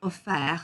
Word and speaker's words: offert: Okay, so ouvert, offert, souffert, découvert. And please do not pronounce that T at the end.